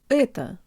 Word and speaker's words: это: Ehto. Ehto. Ehto. Tell your brain the O represents a schwa vowel and make sure to de-emphasize the last syllable.